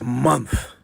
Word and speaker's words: month: m-o-n-t-h month not month there is no e in the word month so there is no conceivable way for the e sound to find its way